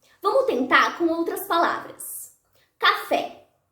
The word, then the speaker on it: café: Café. Café. Fé é a sílaba tônica.